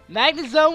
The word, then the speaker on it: Magnezone: Magnezone was caught. See, I know I'm pronouncing that one right, and watch. Someone be like, it's actually Magnezone. You have to put an emphasis on the Magnezone, the magnet area Pokemon.